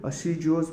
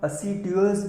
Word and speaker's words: assiduous: को क्या बोलते हैं, असीजुअस बोलते हैं, है ना। यानी इसका देखो प्रोनाउंसिएशन असीजुअस है एक्चुअल में, लेकिन इसको हम असीड्यूअस भी याद रख सकते हैं क्योंकि उसमें डी आता है, स्पेलिंग का ASSIDUOUS।